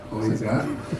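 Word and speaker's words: Khouribga: On m'a appris hier à prononcer le nom, c'est Khourouga. Voilà.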